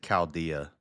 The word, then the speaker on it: Chaldea: Yeah, every other time you see a CH, like an archaeologist or Jericho, it's a cuss sound. So I should have always just pronounced it Chaldea.